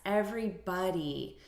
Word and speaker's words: everybody: syllable stress here everybody so we're stressing the first syllable everybody hey everybody repeat